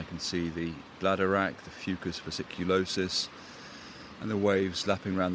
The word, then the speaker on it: Fucus vesiculosus: There was a fan for Fucus vesiculosus. I'm glad I pronounced that correctly.